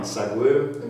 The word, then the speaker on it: Saquu: And it's, correct me if I'm wrong, Saquuu is how it's pronounced, S-A-Q-U-U.